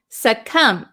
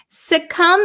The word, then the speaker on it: succumb: let's see suum suum remember the silent B we don't pronounce it suum suum is a verb to